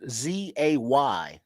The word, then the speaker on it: Zay: Wait, the Frazier says his first name is pronounced Z-A-Y, so that's Zay. Zay. Yeah, Zay with an H. Hey! Don't talk about his mama like that. I've been calling him Zah the whole time. It's Zay. You know black women can't spell like that.